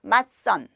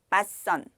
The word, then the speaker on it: 맞선: 공통점은 한국의 전통적인 결혼 문화와 관계가 있는 말들이에요 발음은 이렇게 합니다 맛선 맛선 또 상견 예 상견 예 함 함 이렇게